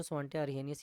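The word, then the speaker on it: Svante Arrhenius: अभी स्वेडिश में इसका प्रोनाउंसिएशन थोड़ा अलग रहता है बट इंग्लिश में इसको स्वांटे अरहेनियस ही पढ़ते हैं।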